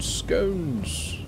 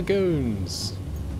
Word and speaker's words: scone: Scones. Okay. I mean, they are nice, I'll give you that. First are here's and then the gones.